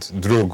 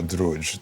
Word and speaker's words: druj: And Druj or Druj, doesn't matter how you pronounce that one, which means wrongness.